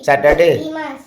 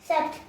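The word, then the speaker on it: sept: हुआ सीस उसके बाद सेप्ट सेप्ट बट उसका उच्चारण सेट होगा एस ई टी ठीक है हां हां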